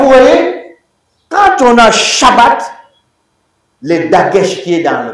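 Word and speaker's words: שבת: Mais comme on a combiné les deux, là, le premier bête qui est là, ça se prononce pas B, ça se prononce quoi? V.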